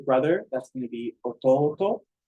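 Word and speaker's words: 弟: that's going to be Orton so a long o short o long o short o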